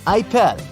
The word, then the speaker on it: Apple: Apple Store except that the French people pronounce it ipel you'll have the option